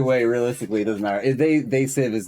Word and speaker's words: They Sieve: And you might think it's they sieve like I did originally, but it's actually pronounced sieve because that's what you do when you're fucking hashing things.